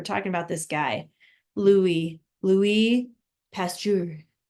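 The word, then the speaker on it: Louis Pasteur: it's week nine Lou Louie pasture Louie pasture he's French so I'm trying to say it like a French person would but it's one two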